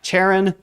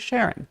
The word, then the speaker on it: Charon: sticks and so the the mythological pronunciation is correct as uh charon the romanticized uh fun way of pronouncing it is sharing so i'll leave that